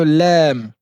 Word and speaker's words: ل: La lettre lem qui ressemble au L en français. Lem.